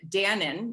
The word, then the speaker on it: Danone: and now owned by danone or as some of you might pronounce it dannon you might know it